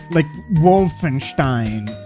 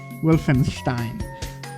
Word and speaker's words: Wolfenstein: I mean, Complex, it's from Bethesda in the same way that, you know, like Wolfenstein is from Bethesda.